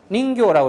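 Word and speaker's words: 人魚: 그래서 인어공주 할 때 인어공주 할 때 인어를 닌교라고 이렇게 짧게 발음을 하고요.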